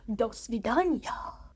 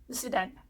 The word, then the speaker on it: до свидания: So for now, goodbye, or shall I say, do svidaniya. That's not actually how you say it. I got infected. No, you say it more like до свидания.